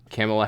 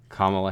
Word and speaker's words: Kamala: outlawing internal combustion vehicles Camilla Harris I'm sorry I mispronounced that I don't know how to pronounce that thank you I think it's it's Kamala Kamala Harris she wants to